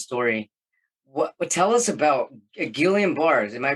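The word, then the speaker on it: Guillain-Barré: to tell this story what tell us about Gillian bars am I pronouncing that correct yeah it's it's French why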